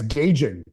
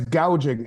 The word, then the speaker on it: gouging: how to say it she said it last night price gauging it's price gouging and they're not gouging